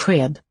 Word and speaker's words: sked: Jag äter soppa med sked. Sked. Here listen to the SK sound. That's really characteristic of Swedish, quite weird.